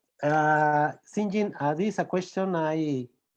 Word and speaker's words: St. John: John Smith, and Sinjin is the Old English pronunciation of St. John.